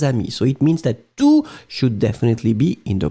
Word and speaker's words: tous: So it means that tous should definitely be in the plural form, masculine plural, T-O-U-S. And you don't pronounce the final S.